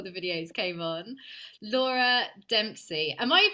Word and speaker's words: Dempsey: fun time before the videos came on, Laura Dempsey. Am I pronouncing your surname right?